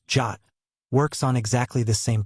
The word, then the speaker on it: JWT: AJWT short for JSON web token and pronounced jot works on exactly the same principle.